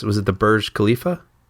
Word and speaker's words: Burj Khalifa: Because you know what was the I'm going to mispronounce. Was it the Burj Khalifa?